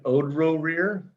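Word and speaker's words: Odroerir: I pronounce it Odro Rear. Odro Rear. Okay, Reggie. Odro Rear. Like row as in like rowing in the pit.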